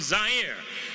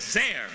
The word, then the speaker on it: Zaire: Howard Cosell coming to you live from Zaire. Some would pronounce it Zaire. They're wrong.